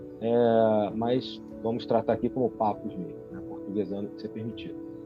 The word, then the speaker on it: Papus: gente conhece como Papus, e é assim que se pronuncia em português mesmo, em francês seria Papus, e não Papi, como algumas pessoas falam, não é essa a pronúncia, mas vamos tratar aqui